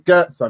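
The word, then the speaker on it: Götze: He's like Mario Goetze. Bro, he couldn't even say it, And then she was like, no, it's Goetze, Mario Goetze.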